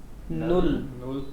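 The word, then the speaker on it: null: नुल नुल नुल। ये नुल क्यों पढ़ा? क्योंकि डबल कॉन्सोनेंट जब भी आएगा तब उसको हाफ हाफ पढ़ेंगे, तो इसलिए मैं इसको नुल नुल पढ़ने की कोशिश कर रहा हूँ।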